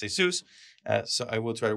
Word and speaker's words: ASUS: And yes, I did test this one, the ASUS, which people have been yelling me about pronouncing it right. All my life has been ASUS, but it's ASUS.